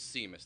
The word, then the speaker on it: Simas: Growing up, it was Simas. The correct Portuguese pronunciation that I've been told is Simas.